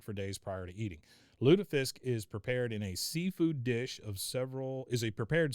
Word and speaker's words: lutefisk: Pronounced Lutefisk in northern and parts of central Norway. In southern Norway, it gives all the pronunciations.